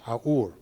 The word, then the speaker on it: Haour: by an archaeologist named Anne, I think it's pronounced Haour.